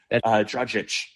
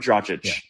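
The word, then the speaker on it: Dragić: Let's say Goran Dragic, just because he's the name, Dragic, I should say. I've had Slovenians correct me on the pronunciation. Goran Dragic.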